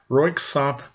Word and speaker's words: Röyksopp: lot of things away here's a workshop it's pronounced röyksopp melody am here's Annie Lennox she's not dance